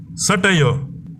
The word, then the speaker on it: satire: இதோட தொடர்புடையது தான் சட்டையோ. இந்த சட்டையோ அப்படிங்கிற டேர்மோட மீனிங் நையாண்டித்தனமான ஏதாவது ஒரு விமர்சனத்தை நகைச்சுவை கலந்து வெளிப்படுத்துறது தான் இந்த டேர்ம் குறிப்பிடும். SATIRE, சட்டிரி, இந்த மாதிரி ரீட் பண்ணக்கூடாது. சட்டாயோ, சட்டாயோ இப்படி தான் ப்ரொனவுன்ஸ் பண்ணணும்.